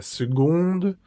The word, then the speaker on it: seconde: Y aquí ocurre algo algo particular y es que no esa C por cosas de la vida se convierte en una G. Es como si dijeras segundo en español. Segundo.